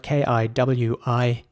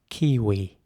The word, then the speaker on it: kiwi: Kiwi is spelled K-I-W-I, and it's important to pronounce the W like a W. Kiwi. So not kiwi, not V, but W. Kiwi.